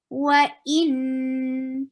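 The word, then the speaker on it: وإن: Minhul anharu wa in. Circle your lips for dhamma, for wow, to pronounce wow, just circle your lips. Wa in. Hamza is very strong letter, and for kasra make e sound.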